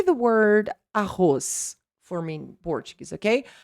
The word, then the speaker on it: arroz: Say the word arroz for me in Portuguese, okay? Arroz. Now, the Z will sound like a Z or an S. An S, right? Arroz.